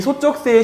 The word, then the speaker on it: 소쩍새: 이 소쩍새의 실제 발음은요, 소쩍 하고서 새예요. 소쩍새.